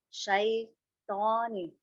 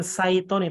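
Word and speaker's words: شيطان: Bukan saitoni, tapi syai. Syai. Ya, betul. Saya ulang Ustaz. Ya. A'udzu billahi minasyaitonir rajim. Coba Ki, lihat di chat. Ya, ya. Nah, jadi syai bukan shoy.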